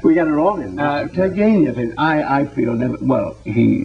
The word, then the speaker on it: Turgenev: In the Turgenev. He, second. The second one. accent on the second syllable.